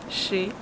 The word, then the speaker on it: chez: And the last one, je travaille chez moi. Je travaille chez, and you smile when you pronounce E fermé, closed E sound. Chez, that is not pronounced.